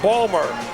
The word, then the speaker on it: Baltimore: He comes from Baltimore, as it's pronounced there, Balmer. Barbara Mikulski, the projected winner in Maryland.